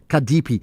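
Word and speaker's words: CADP: and a member of the acronym is C A DP but it's pronounced um Kadepi.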